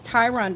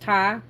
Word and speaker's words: Ty: my name, but it's Ty. I get my name mispronounced a lot. It's Ty. It's just Ty. I've been called Tyhonda. Tronda. That's not my name.